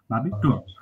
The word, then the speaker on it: Abitur: জি ভাই, আবি টুর মানে সবগুলোর ভাওয়ালের ইন্ডিভিজুয়াল উচ্চারণ হবে। হ্যাঁ, এ বি আই আবি টি ইউ আর টুর, আবি টুর Abitur.